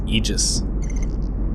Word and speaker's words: Aegis: Today, the password is Eegis or Aegis, depending on how you want to pronounce it.